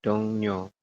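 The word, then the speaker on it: 동료: Aduh kok salah sih dong Rio kita bacanya menjadi dongnyo Oke seperti ini apa yang berubah yang berubah adalahnya dibaca n atau di baca ni seperti itu gitu ya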